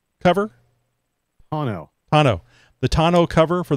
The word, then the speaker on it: tonneau: I had, you know, I have that Best Top, and you always have to pronounce this for me, toner cover? Tonneau.